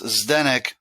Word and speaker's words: Zdenek: well it started because my name is quite difficult to pronounce it's like missing the vows it's ZD en EK and to pronounce stenick it's quite challenging so it became twenty